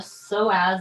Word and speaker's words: psoas: this muscle iliopsoas are the so as the sore ass muscle p-s-o-a-s that's how you spell it it is very very